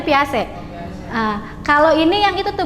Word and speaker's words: Piaget: Piaget itu dibacanya Piase.